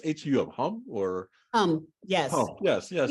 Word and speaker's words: Hum: Is it pronounced H-U-M, Hum, or?